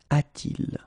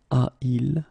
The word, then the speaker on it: a-t-il: to modify it, and we will add this T here. Okay, so you will get this form, a-t-il. All right, so il a should become a il, but then it doesn't sound nice, so it's a-t-il.